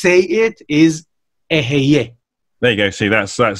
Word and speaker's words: Eheieh: Basically, the right way to say it is EHEIEH.